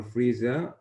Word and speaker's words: Frisia: In the beginning, Toastmaster Frisia, correct me, please, if I'm wrong in pronouncing your name. Frisia, you have pronounced it right.